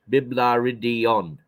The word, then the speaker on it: Biblaridion: Spell that word, that Biblaridian again. Biblaridian. It's B-I-B, Bib, La, L-A-R, La, Id, I-D-I-O-N, Biblaridion.